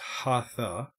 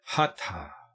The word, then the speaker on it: hatha: yoga by the way it's not pronounced hatha there is no th sound in Sanskrit it's hot ah he pronounce each letter separately and what we understand